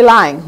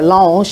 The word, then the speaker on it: Lange: They were founded by Mary Lang, Mother Mary Lang, or Lange, if we pronounce it with the French, right here in Baltimore, down in Fells Point, colored nuns.